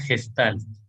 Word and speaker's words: Gestalt: Una gestalt. Ese es como, digamos, la pronunciación correcta. Una gestalt. Una palabra alemana en todo caso. Así que por eso la pronunciamos un poco como la leemos.